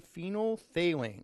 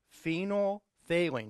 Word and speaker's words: phenolphthalein: then we take the phenolphthalein say that with me together phenol failing that's one of the things you need to learn in chemistry phenol for that we know phenol failing four syllables phenolphthalein okay you take about